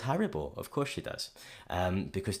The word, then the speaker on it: Haribo: We pronounce it Haribo. This is a great example of why we can't pronounce a word exactly the same in two languages.